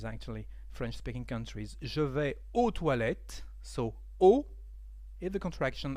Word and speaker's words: aux: French speaking countries so o is the contraction of a a ux because Al doesn't exist in French we say o instead with the X for the plural but we don't pronounce it oet okay so let's